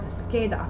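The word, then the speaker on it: scheda: she and she but we have to put an h between two letters the c and the a and the c and i in order to create this heart sound for example let's say the word scada card scada or the word ski skena back that would be the skena heart sound and once we memorize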